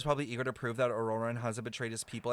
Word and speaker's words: Ororon: pretty far out there that's how that's how you say his name auroran oh I've been [